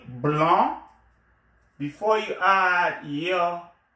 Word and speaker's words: blanc: The C is silent, and then you have a nasal vowel, A-N, the nasal vowel, blanc, and then blanche, blanc, masculin, blanche. Féminin. So, un blanc, cahier, a white notebook, un blanc, avec C, don't forget the C, it's pronounced blanc, but it is written with a C, un blanc cahier, a